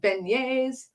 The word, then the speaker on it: beignets: t t s vignette pronounced beignets because it's french so yesterday between all